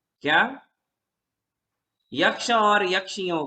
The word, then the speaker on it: यक्षी: यक्ष और यक्षियों के, पहले तो एक बात, यक्षिणी नहीं कहना, यक्षी कहना। बोलो। प्रचलन में यक्ष यक्षिणी ऐसा है, किंतु व्याकरण की दृष्टि से बिल्कुल गलत उच्चारण है।